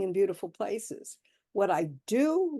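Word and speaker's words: d'eau: And one of the things I do to save money is order anaf do. It's the word carff. D is spelled d apostrophe e au, although it's pronounced like o h.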